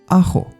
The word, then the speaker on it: ajo: Ajo, garlic, ajo. And very important, J in Spanish is pronounced as the H in English.